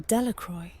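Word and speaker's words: Delacroix: Jones and Dicky deacro the villagers pronounced this name delacroy eventually made a great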